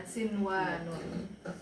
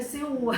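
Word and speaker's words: صنوان: Jadi sinwan itu satu kata, karena satu kata. Jadi dia nggak dibaca idgham biguna. Ya, sinwanun. Ini mentang-mentang udah belajar nih, bacanya siwan. Gitu kan. Salah. Ternyata salah. Tapi kenapa saja alasannya kenapa? Karena dia di dalam satu kata. Oh. Kalau yang empat. idgham biguna itu ternyata beda kata, beda kalimat.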